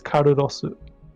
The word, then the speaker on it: Carlos: So I won't even in Japanese it's pronounced as Karurosu.